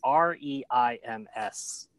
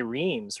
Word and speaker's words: Reims: So this is a town which in English we'd say Reims, right? It's the one of the champagne capitals of France. Do you know how it's pronounced in French? Reims. You're like, where is the H? Where is the TZ? No explanation. It's Reims.